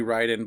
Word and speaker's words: Raiden: It's supposed to be Raiden, but NetherRealm for some reason said Raiden. It just stuck ever since.